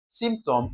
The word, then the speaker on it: symptom: Option A symptom spells differently. Okay. Now the correct spelling of symptom is option what now? C. Take note the P is silent while pronouncing it.